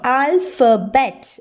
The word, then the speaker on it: alphabet: Here P and H is pronounced as first sound, alphabet.